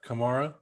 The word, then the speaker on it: Kamara: me up but alvin kamara kamara there you go come here yeah like camaro i don't want to